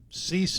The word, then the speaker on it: Ceyx: Cease is the band. CEYX, by the way, is how you spell it.